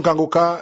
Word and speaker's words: Kanguka: Mais pour l'émission Kangoka sur YouTube, vous les trouverez sur la chaîne Kangoka français. Kangoka ça s'écrit K A N G U K A.